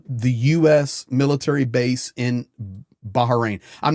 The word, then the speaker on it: Bahrain: I want to pronounce everything right. Okay, Ravan. Uh, Bahrain.